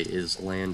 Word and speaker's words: island: also by the way this is pronounced island even though in like every single video when i type that i say is land it's island all right